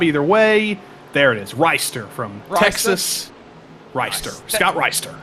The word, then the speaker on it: Rister: Yeah, Scott, I believe it's Reister. I got to check the R-I-S-T-E-R? we got our pronunciation book. Let's see, because he did fill it out, thankfully. So let's scroll up here. Reister.